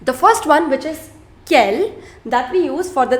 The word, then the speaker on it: quel: Quel, quel, quel et quel. The pronunciation of all 4 of them is same. Quel, quel, quel et quel. D'accord? It is not quels, it is not quels.